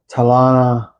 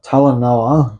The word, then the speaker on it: Talanoa: Tal Talana sorry Tal Talanoa that's how it's pronounced.